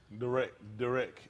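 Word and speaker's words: דרך: That's a Darak or Derek. Derek is how they pronounce it.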